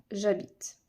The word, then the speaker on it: j'habite: le transformer vu que c'est un h muet il ne se prononce pas ça ne peut pas marcher cette liaison donc on écrira j'habite j apostrophe maintenant on